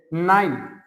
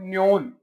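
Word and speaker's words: neun: हैं हम आ okay नाइन नाइन को बोलते हैं हम नोइन नाइन को बोलते हैं हम नोइन इसमें काफी बार मिस्टेक एक होती है न्यून न्यून ऐसे ऐसी आवाज बोली जाती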